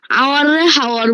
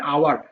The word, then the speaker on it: hour: স্যার হ্যাঁ, হাওয়ার বলেছে। ও হ্যাঁ, আমি বলতে আমার খেয়াল ছিল না বলতে। বাবা, এটা হাওয়ার হবে না, উচ্চারণটা হবে আওয়ার।